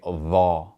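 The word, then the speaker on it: ظاء: And when it has a fetha, we're going to pronounce that A sound like aw. So we would say dha rather than tha.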